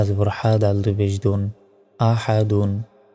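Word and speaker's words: أحد: জবর হাদাল পেশ দুন আহাদুন এখানে থামলে শেষ অক্ষরে সাকিন দিয়ে উচ্চারণ করতে হবে আহাদ উচ্চারণ হবে ওয়ালাম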